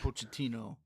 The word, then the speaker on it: Pochettino: And then you mix that with Pochettino coming in, right? That's how you say his name or coach. Mauricio Pochettino.